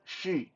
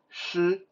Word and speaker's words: 师: Li fa shi, she, but it's not pronounced she, but it's pronounced shi.